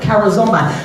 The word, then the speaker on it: charizomai: Then the next word that we have is charizomai. Charizomai. Very complex word. Charizomai. C-H-A-R-I-Z-O-M-A-I. I'm going to spell it again.